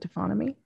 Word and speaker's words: taphonomy: What would you say the future of your profession of, and remind me how to pronounce it correctly, taphonomy? Is it taphonomy?